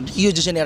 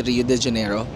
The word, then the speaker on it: Rio de Janeiro: Rio Rio de janeiro rio de janeo iung pronounced guys hindi rio de janeiro so Andito ako sa